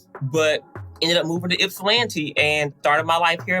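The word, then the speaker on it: Ypsilanti: later i got accepted and i moved to ipslanny michigan and at the time i didn't know how to pronounce its landing michigan i don't know what i was calling it but ended up moving to ipsilanti and started my life here in michigan uh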